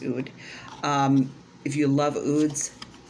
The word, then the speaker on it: oud: an ood fan um oud i'm pretty sure that's how you pronounce it is ood um if you love